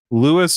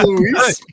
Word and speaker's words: Louis: Very briefly, and introduces him as Louis Dante. It's pronounced Luis, but yeah.